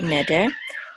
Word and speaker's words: neder: we have neder and the accent is on the first syllable here neder so this is a